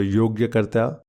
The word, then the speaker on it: Yogyakarta: I've never quite known how to pronounce that. Yoga. Yogarta. So Yogyakarta.